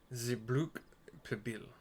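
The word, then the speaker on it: Xibruq Pibil: Gibral is how that's pronounced, the XBR apostrophe AAL, Gibral. Zibruk Pibil.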